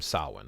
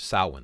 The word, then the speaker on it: Samhain: It's spelled, if you were going to read it in English, it looks like it's spelled Samhain. But if you look at the Irish language, the MH makes a W sound. That's how we get Samhain out of it.